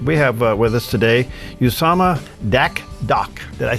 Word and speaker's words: Dakdok: But we have with us today Usama Dakdok.